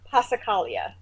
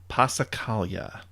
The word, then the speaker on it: passacaglia: Passacaglia. Passacaglia. Passacaglia. The G is silent.